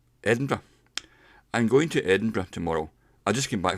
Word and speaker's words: Edinburgh: might say well that's Edinburgh Edinburgh some days Edinburgh and somebody might say Edinburgh in Edinburgh in fact when you're pronouncing it you use a schwa so it's pronounced in